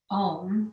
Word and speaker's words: Om: And I want you to really think about the emphasis of the 3 syllables that make up Om, which is an A, a U, and an M. So it's a sound. And as you make those 3 sounds, they blend together to create that one sound that we know as Om.